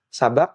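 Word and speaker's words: سبق: Sabak sin ba qof. Jika kita baca bnya di fathah la sabaqo maka maknanya adalah taruan.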